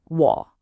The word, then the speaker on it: 我: And you pronounce it W.